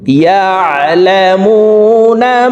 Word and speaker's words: يعلمون: প্রিয় দর্শক, এই আইন হরফকে হলকের মধ্যখান থেকে উচ্চারণ করতে হবে, কারণ আইনের মাখরাজ হলকের মধ্যখান থেকে হবে। ইয়া আইন জবর ইয়া, ইয়া ইয়া। দেখুন, আমার সঙ্গে বলার জন্য চেষ্টা করুন। ইয়ালামুনা মা তাফআলুন ইয়ালামুনা মা